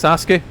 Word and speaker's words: Sasuke: But I believe it's Sasuke. That's what I'm saying from because that's what they call one of the characters like that in Naruto.